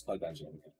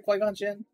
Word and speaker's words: Qui-Gon Jinn: It's Qui-Gon Jinn. Who are we talking about? Obi-Wan's master. Qui-Gon. Yeah. Did I say it right, Qui-Gon Jinn?